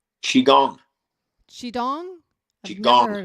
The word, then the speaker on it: Qigong: Qigong, Qigong? I've never qigong, heard of it. Qigong? qi Qi gong, gong. like a gong, like a gong.